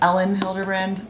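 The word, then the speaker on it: Elin Hilderbrand: romancey you guys told me her name is ellen hildebrand sorry i've been pronouncing it wrong this is the second in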